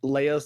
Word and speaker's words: Leia: Technically, he's with Leia first.